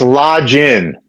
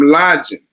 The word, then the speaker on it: Lodgen: right close it's uh it's Lodge in lodging okay everybody there it is lodging I'm lodging so